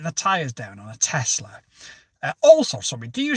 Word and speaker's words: Tesla: There's no Z in it. It's Tesla. And she said, no, it's definitely Tesla.